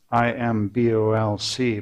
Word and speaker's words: Imbolc: In the Celtic world it's called Imbolc. I M B O L C but pronounced Imbolc.